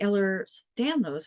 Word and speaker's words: Ehlers-Danlos: For her, because the Ehlers-Danlos, am I saying that right? Yep. Yep. How do you spell that, by the way?